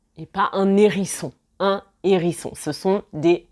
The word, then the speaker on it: hérisson: Un hérisson et pas un hérisson.